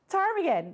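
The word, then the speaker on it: ptarmigan: Churchill on the weekend tarmigan there's a p that's silent at the beginning I had to do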